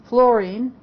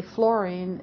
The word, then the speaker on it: fluorine: to keep in mind, that it's F-L-U-R, so you say fluorine. If you say fluorine, you'll probably misspell it.